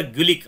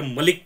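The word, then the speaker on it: Gulick: म्हणण आहे okay Luther गुलिक आता इथे येत बघा ओके तर एमपीएससीने डायरेक्ट याच प्रोनन्सिएशन लुथर मलिक करून टाकलं होत तुम्हाला आठवत असेल ओके लुथर मलिक नाही तर लुथर गलिक आहे हज गिव्न मॅजिक फॉर्मुला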